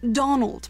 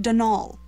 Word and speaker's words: Donal: that was the caretaker denol Delaney not Donald mind you there's no D at the end so it's pronounced denal that's the way you're